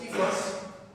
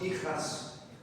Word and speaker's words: hifas: Y las hifas, que no es hijas, pronunciado en la selva, a veces la J la pronuncian como F en la selva, forman como si fueran pelos radiculares.